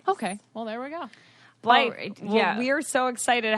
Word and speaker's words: Blythe: It's Blythe.